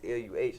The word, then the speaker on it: Luh: So in St. Louis, when we like little bruh or like little something, like it's always L-U-H. That's how we spell it.